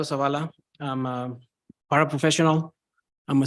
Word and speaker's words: Zavala: hear me yes oh I want to start by saying my name my name is Savala I'm a paraprofessional I'm